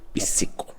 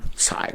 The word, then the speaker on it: Psico: Psico. A pronúncia é essa mesmo? Em português. Se for em inglês, aí vai ficar psycho.